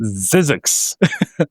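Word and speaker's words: Zzyzx: There's a place called ZZ YZ X Zizzix. Apply me. uh that it's not it's pronounced Zizzix even though it's not spelled Zizzix.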